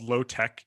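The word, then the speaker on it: LOT-EK: actually and so the book is called low tech and that's spelled l-o-t-e-k can you talk about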